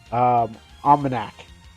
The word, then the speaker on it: OmanaC: OmanaC. That's how it's pronounced.